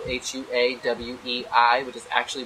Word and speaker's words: Huawei: that the other day I was always saying cool why cuz that's the way it looks the way it's spelled hua w/e I which is actually pronounced a huawei so let's